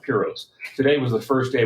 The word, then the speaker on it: Piros: And by the way, it's pronounced Piros.